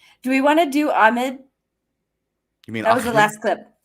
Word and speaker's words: Ahmed: we want to do Ahmed you mean clip I think it's pronounced Ahmed that's how I've heard it every time it's spelled a a-h-m-e-d and people say Ahmed but whatever it is